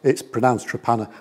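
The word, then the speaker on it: Torpenhow: It's pronounced Trepanna, but it's spelt Tor Pen How.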